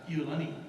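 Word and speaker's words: ʻIolani: Pronounce it Iolani.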